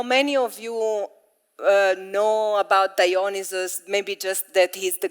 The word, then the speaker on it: Dionysus: Okay, so we will go also a bit deeper about what does Dionysus, I always say Dionysus with my Italian accent, but I think Dionysus is the actual pronunciation.